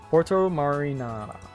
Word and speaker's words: Porto Marina: Porto Marina. That's how you say it, everybody. That with that cadence and pronunciation.